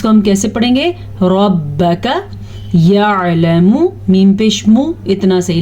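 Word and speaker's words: رَبَّكَ: پڑھیں گے، ان ربک را کو پر پڑھنا ہے لیکن نہ تو با کی زبر کو لمبا کرنا ہے اور نہ ہی کاف کی زبر کو لمبا کرنا ہے۔ بعض لوگ اس کو پڑھتے ہیں ربک، تو یہ غلط ہے، اس کو ہم کیسے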